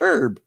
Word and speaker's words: herb: leave eh ah like dad where do you pronounce it like that for what's got an H on it so it's herb announced the age it's silent to this day